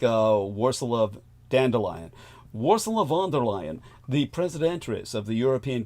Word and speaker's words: Ursula von der Leyen: Again, I'll try and pronounce her name the way that our man Brendan ẒOGHET, our resident Deutschensprach, our German speaker, would say it. Ursula von der Leyen. I guess that's it.